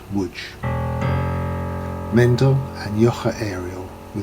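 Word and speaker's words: Łódź: the city whose name is written lords but pronounced wood mendel and joche ariel were the proprietors of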